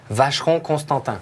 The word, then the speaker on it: Vacheron Constantin: Well, you know, if you really want to pronounce it like it should be pronounced, one more time for the folks. Vacheron Constantin.